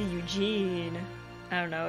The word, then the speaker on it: Eugene: Eugene! I mean, the way she's pronouncing Eugene is how, like, Korean people would pronounce it. But she's English, so it should be Eugene.